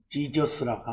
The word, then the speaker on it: Jesus: 근데 그 예수를 거기도 표기해놨습니다만은 리뷰 복습란에 헬라어를 쓰는 사람들은 이에수스라고 하고 영어권 사람들은 지저스라고 하고 또 한자권이나 일본어권이나 우리 한국 사람들은 발음을 예수라고 합니다.